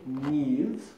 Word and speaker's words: Neves: It's been pronounced several different ways. It's such a short name, you wouldn't think it had so many ways of being pronounced, but it's Neves, Neves, Nevis.